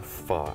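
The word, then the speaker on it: phở: The other thing is I'm so excited because I just really learned how to say it. Pho. You got it.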